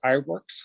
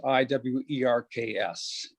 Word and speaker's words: Iwerks: And his last name's Iwerks, Iwerks.